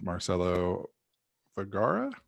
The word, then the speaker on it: Marcelo Vergara: with firefly msp and i'm here today with marcelo vergara did i pronounce that right that's correct yep just like